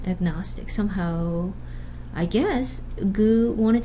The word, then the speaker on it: agnostic: There's a before nasal sound, but if it's not the syllable initial sound, it stays agnostic.